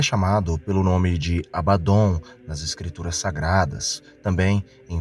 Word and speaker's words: Abaddon: Em hebraico se pronuncia Abaddon e tem o significado de destruição ou até mesmo desgraça.